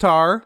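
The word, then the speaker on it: Tár: No, just Tar, with an accent on the A. No D? No D. No silent D? No silent D at the end.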